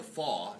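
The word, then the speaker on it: falx: So, this is the FAW, F-A-L-X, FAW, pronounced as it was a W, cerebri.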